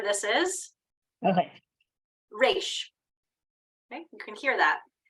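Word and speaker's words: ריש: Resh.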